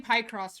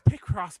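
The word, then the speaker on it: Picross: I'm playing I'm playing pie cross right now oh really it's the same thing I'm sorry is that how you pronounce that dude it's pck Cross by the way but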